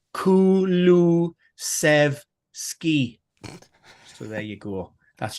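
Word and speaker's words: Kulusevski: So that was Kulu Sev Ski.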